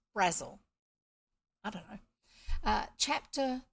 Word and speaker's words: Brazil: tomboy by Angela Brazil even though it looks like Brazil apparently it was said pronounced Razzle I don't know uh